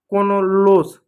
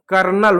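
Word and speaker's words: colonel: अगला है कोनोलोस गलत है। कर्नल होता है।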